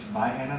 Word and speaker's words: Vienna: It's spelled Vienna, but it's Vienna there.